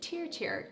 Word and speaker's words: TIRTIR: testing out the very viral and very popular tear tier cushion foundation and yes it is pronounced teer tier tiir trust in Radiance it started back in